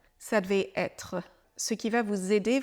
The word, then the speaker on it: être: devait ça devait omarc prononce bien le R de être ça devait être ce qui va vous